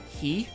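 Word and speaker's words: 火: The Japanese word for fire is he. It's spelled H-I, but that's neither here nor there.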